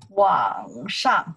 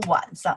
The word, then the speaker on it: 网上: 网上 , careful here, okay. 网上 , I say 网上 , not 晚上 , not evening.